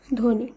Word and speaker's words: ধ্বনি: আবারও বলি, শব্দের প্রথম বর্ণে যদি বফলা যুক্ত থাকে সাধারণত সেই বফলার উচ্চারণ হয় না। যেমন স্বাধীন, স্বদেশ, জ্বালা, ত্বক, শ্বাস, ধ্বনি। লক্ষ্য করুন, এই প্রত্যেকটি শব্দেরই প্রথম বর্ণে বফলা যুক্ত আছে, কিন্তু শব্দগুলিকে যখন আমরা শুদ্ধভাবে উচ্চারণ করব তখন সেই উচ্চারিত শুদ্ধ শব্দে কিন্তু আর বফলা থাকছে না।